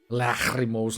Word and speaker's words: Lachrymose: Unless we need to go to Lachrymose Lake. That's definitely how you pronounce it, by the way.